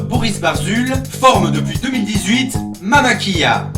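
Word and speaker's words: Mama Killa: Barzul forment depuis 2018 Mama Kia, à prononcer comme en Amérique centrale avec la EIE, le double L pour les non-hispanophones, parce que ce nom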